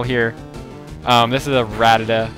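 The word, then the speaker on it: Rattata: this is a ratata I used to always call it ratatata and the reason why is I think it's because the double T maybe want to pronounce both both T's really hard cuz you would say rat Tata ratata and then it kind of comes out like ratatata but I don't know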